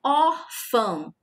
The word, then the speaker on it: órfã: A pronúncia aqui é órfã, ok? Por isso nós temos aqui o acento agudo. E a sílaba tônica é o or, a sílaba mais forte, o som mais forte.